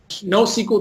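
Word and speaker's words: NoSQL: in document DB our JSON store basically our no sequel JSTOR document DB no sleep no sequel document storage there you said it right so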